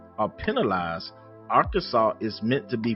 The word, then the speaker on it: Arkansas: Although incorrectly pronouncing the state's name with the hard S at the end is not strictly unlawful or penalized, Arkansas is meant to be pronounced Arkansas.